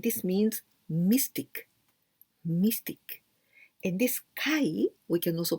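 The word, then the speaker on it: 怪: And this kai, we can also pronounce ayashi.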